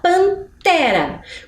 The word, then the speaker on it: pantera: Nós pensamos panela janela pantera qual será a sílaba mais forte descobriu acertou Quem disse que é o Té porque Vejam o som